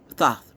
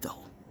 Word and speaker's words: Thoth: Thoth, by the way. Thoth. Not though. Thoth. People be intelligent, but I mean, you know what?